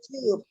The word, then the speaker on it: tube: Mbak baca tube. Yes, ma'am. Tube, itu bacanya tube, bukan tap.